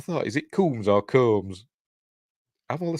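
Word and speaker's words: Combs: mad scientist Herbert West Jeffrey coms kums I've always pronounced it kums and I've met him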